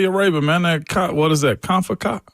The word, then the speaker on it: CONCACAF: CONCACAF Cup. There you go. CONCACAF.